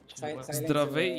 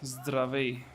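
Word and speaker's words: Здравей: Zdravej, yes, correct. With Z, Zdravej. It doesn't really sound too hard when you say it like quickly, like Zdravej, Aspetta.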